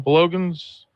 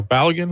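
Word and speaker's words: Balogun: And lo and behold, yesterday FIFA announced that they were lifting Bologan's or Balagan is how you say it, his suspension.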